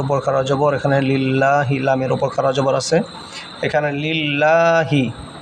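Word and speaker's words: لله: লিল্লাহি এখানে লামের উপর খারা জবর, লামের উপর খারা জবর এখানে লিল্লাহি। এই যে লামের উপর খারা জবর, এখানে লিল্লাহি, লামের উপর খারা জবর আছে। এখানে লিল্লাহি 1 আলিফ এখানে টান হবে।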